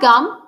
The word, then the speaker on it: gum: you have gum or do you have a gun next one let's have